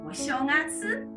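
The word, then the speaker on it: お正月: 叫做正月，发音是お正月。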